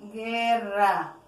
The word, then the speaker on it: guerra: Es importante que cuando, por ejemplo aquí, guerra, que cuando se escriba el dígrafo gu, el dígrafo gu solamente se escribe con la e y con la i para que diga guerra, guisado, guisado, acuérdate.